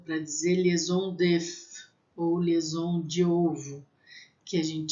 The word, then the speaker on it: liaison: Então, quando a gente estiver lá falando de liaison, vocês vão lembrar. Lembra que IA tem som de E.